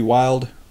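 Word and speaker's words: Wylde: It's 1/8 twist, 223 wild, or wildy, however you want to pronounce it, chamber.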